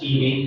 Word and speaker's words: Edy: First name is, last name is pronounced Edy, spelled E-D-Y.